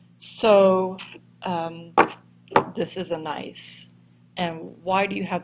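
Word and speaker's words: gneiss: of this compositional banding is a rock called nice pronounced nice spelled g NE I SS so um this is a nice and why do you have this layering in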